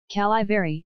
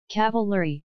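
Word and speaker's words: Cavilleri: Calivary, I added, since old Stoney didn't know her last name. Cavalry, Jenny added politely, since I had mispronounced it, for the first and only time in my goddamn life.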